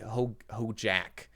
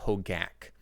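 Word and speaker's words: Hogaak: I know I have one moderator of the stream, Jenstakov, who hates when people mispronounce Bogles, when they say Boggles instead, or when they say Hojak instead of Hogak.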